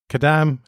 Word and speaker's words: Kadam: Because you're known as Kadam Adam. Yeah. And Kadam is a typical name in Kadampa Buddhism. Yeah. It's great that it rhymes with your name, isn't it? Just stick a K in front of my name and we're good to go.